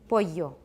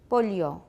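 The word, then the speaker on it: pollo: least in most places they pronounced double-l like a you boyo boyo boyo is the word for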